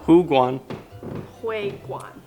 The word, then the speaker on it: 湖广会馆: Hu Guan. Hui Guan.